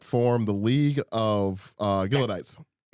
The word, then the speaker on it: Gileadites: John Brown had formed the league of uh Gillodites. Okay, thank you. Yeah, because I wasn't sure how to pronounce it. I have that one actually. Gileadites or Galot. Yes, Gileadites.